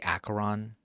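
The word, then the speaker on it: Acheron: played having to play I say acaron fine that's the American English pronunciation I I pronounced the asron because I was like okay this seems like a very uh American thing to do to just see a CH and pronounce it as C I'm like what other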